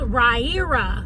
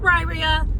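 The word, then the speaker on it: Riyria: It is called Ryer Chronicles. Not Rya. I'm still going to say it wrong, just so y'all know, but the lady that that is doing the audio book, she said Ryer Chronicles.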